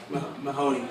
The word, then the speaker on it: Mehoné: do you say your name again I'm sorry Mahoney Mahoney you're having trouble with that mic mic